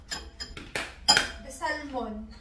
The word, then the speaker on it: salmon: The L is silent.